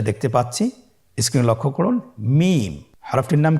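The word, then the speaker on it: ميم: মিম। হরফটির নাম কি? মিম। মিম হরফটি উচ্চারণের ক্ষেত্রে অবশ্যই বারিক হবে, পাতলা হবে এবং তিন আলিফ টেনে উচ্চারণ করতে হবে। আমার সাথে আরেকবার চেষ্টা করুন। মিম।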